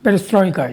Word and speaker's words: Perestroika: But before that, he was a big stint in Moscow with the Patriot, and the time when Perestroika, how do you pronounce it? Perestroika, yeah.